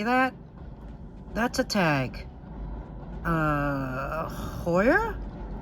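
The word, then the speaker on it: Heuer: that's a tag uh hoya i believe that's how you pronounce it h-e-u-e-r this is a woman's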